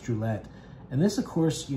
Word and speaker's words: Druillet: the the different Dragon skins his name is pronounced Gillette and this of course you know I knew